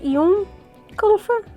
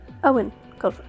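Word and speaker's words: Eoin Colfer: saying his name wrong I thought was y ker but it's Owen ker which is a little weird because there's no W and there's an e in the beginning what what ever whatever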